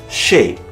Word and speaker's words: chez: And so we finally come to the letter Z. There will surely be attempts to blame the French, and yet the following have been fully established words of the English language for centuries now: chez, laissez-faire, and rendezvous.